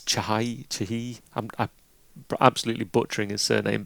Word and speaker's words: Chahi: I always want to say Eric Chai, but it's Chahi.